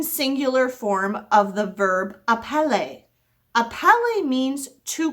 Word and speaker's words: appeler: So just like appeler means to call, basically all other verbs in French are going to end with that ER, but it's pronounced A.